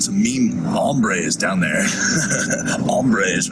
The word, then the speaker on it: hombres: of course I think the correct pronunciation in Spanish it's like hombres but here we sort of Californian eyes everything so it's mambre obviously has a lot of